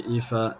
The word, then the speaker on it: Aoife: tuning into the game, correcting me on my pronunciation that I butchered a bit earlier. So thanks again for filling me in there. And so that should be Aoife McKeown, if I'm correcting that pronunciation that I messed up earlier with the score to